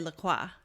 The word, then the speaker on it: LaCroix: Because I want to say LaCroix. Right. But everyone's like, no. LaCroix. Dum-dum. It's LaCroix. Yeah.